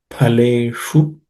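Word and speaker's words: फलेषु: The pa is also aspirated. It's the second letter in the pa varga. Phaleshu. The sh is again cerebral sh.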